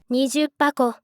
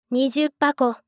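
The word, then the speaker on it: 二十箱: 원래 상자는 하코인데 20상자는 20 箱、 20 箱、 라고 발음이 됩니다.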